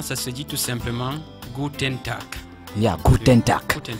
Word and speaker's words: Guten: Alors le son U en français, c'est tout simplement U.